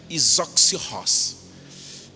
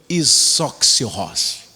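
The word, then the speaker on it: ἰσόψυχος: Mas essa palavra aqui se pronuncia isoxios. Gostou, né, Murilo? Não, isoxios.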